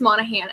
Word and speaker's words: Monaghan: I was like, how do you pronounce it? And you're like, it's just Monaghan.